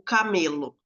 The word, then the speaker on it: camelo: Na paroxítona eu peguei uma não acentuada, o camelo. Camelo, o acento aí, a tonicidade é no me, acento não gráfico, tá.